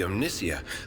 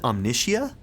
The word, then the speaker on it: Omnissiah: Do they really pronounce it Omnicia? So it's more like, it's obviously a play on the Messiah. But they're also playing with omniscient, but it's spelled like Messiah. So I've been saying Omnissiah.